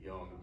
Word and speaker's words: Jung: here's how he describes them so here's uh jung's description by the way pronounced jung i will just keep saying young but just to teach yes so here's his